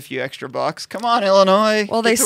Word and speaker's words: Illinois: So in Illinois last week, a vote on a pending medical